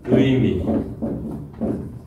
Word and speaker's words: 의미: 의미. 의도. 자, 의자가 앞에 와서, 낱말의 앞에 왔다고 했죠. 앞에 왔을 때 의 발음은 원음대로 한다.